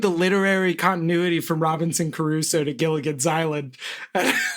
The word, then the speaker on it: Crusoe: Caruso. David Caruso. David Caruso. That was Wait, what is it actually? What should I say? Crusoe. Crusoe. Yeah, I did add a syllable.